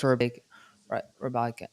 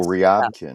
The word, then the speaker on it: Ryabkin: This screams Rabankin. I can't pronounce that kid's name. I'm so sorry, guys. Who are we looking at? Rabankin for Carolina. Oh, Ryabkin. Ryabkin. I keep calling him Rabankin.